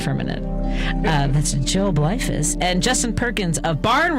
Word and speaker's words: Bleifuss: and then I made fun of his name, Bleifuss. I said Bleifuss correctly off the air. That's why you know what? I'm gonna meditate on it for a minute. That's Joel Bleifuss and Justin Perkins of Barn Raiser, independent source